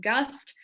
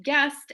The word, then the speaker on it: Gust: believe it or not my last name gust people will come to me and call me guest and goost and or gushed i mean who knows